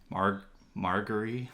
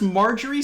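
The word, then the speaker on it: Margaery: Marguerite. Marguerite. Well, you know why? Because Marjorie sounds too much like margarine.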